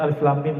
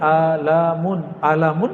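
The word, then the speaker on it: Alif Lam Mim: masih bahasa bumi sedangkan alif.lam.mim bahasa langit semua orang Arab bingung Hai kita Alhamdulillah diizinkan Allah subhanahuwata'ala mendapatkan ayat-ayat seperti ini dan dibacanya bukan alamun alamun artinya penyakit sakit di kolom Alif itu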